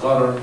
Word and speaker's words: gharar: This idea in Arabic, this is pronounced gharar, G-H-A-R-A-R, sort of is this idea that speaks